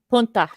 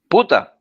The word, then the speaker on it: puta: Punta. Punta. Puta.